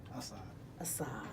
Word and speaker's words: Asad: Hey, pronounce the last name. Asad.